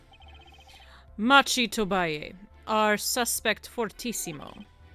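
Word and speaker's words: Machi Tobaye: Machi Tobay.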